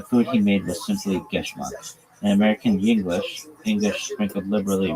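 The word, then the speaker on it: געשמאַק: If your nephew, Geschmack, pronounced Geschmack, is a Yiddish word that means delicious, pleasurable, fun.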